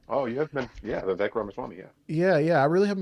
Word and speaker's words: Vivek Ramaswamy: Oh, you have been, yeah, Vivek Ramaswamy, yeah.